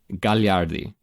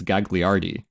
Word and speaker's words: Gagliardi: Because like she has an Italian last name, Gagliardi, right? But if you read it phonetically in English, it's Gagliardi, right?